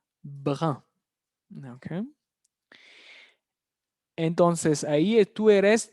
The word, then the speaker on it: brun: La pronunciación es difícil, brun.